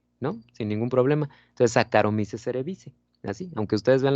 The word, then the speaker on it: Saccharomyces: Por ejemplo, si ustedes ven CH, se pronuncia como K, ¿sale? Entonces no se dice Saccharomyces, se dice Saccharomyces.